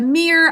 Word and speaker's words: mere: Mere, 3 sounds. E says its name because of a silent final E job 1 in this word.